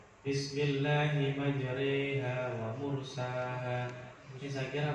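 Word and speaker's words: مجريها: Setelah roh kayak ada huruf ya. Ya. Itu bacanya waqala rakabu fiha bismillahi majriha wa mursaha. Bismillahi majriha wa mursaha.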